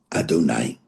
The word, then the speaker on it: Adonai: We read it Adonai.